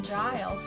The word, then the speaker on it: Giles: and asked our librarian Giles for help he says how can I help you it says rhymes with miles that's pronounce agile so